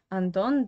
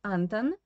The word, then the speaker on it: Anton: choose the name anton and on that in english normally foreign is pronounced as antan but in russian we change the stress and we say andon in russian language so yeah uh i